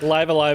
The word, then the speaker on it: Live A Live: i say live live live live live and live love yeah i mean like live alive is apparently the the official title i always